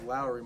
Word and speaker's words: Lauri: can't tell first yeah his name's not being pronounced right it's Lowry Mark and not lry oh it's Finland right